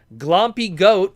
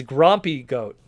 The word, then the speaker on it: Grompy Goat: Masterpiece animated Megatron for 2024 and a Grompy with an R. Yeah, Canadian. Oh, I even said it wrong again. Yeah, it's Grompy Goat.